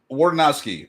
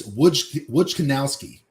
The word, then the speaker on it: Wojciechowski: Wardanowski. Wardanowski? Nope. I got the ski part right. It's Wojciechowski. Wojciechowski.